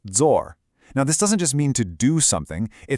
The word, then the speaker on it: 做: As you can see, it comes from the Chinese character 做, which is pronounced zor.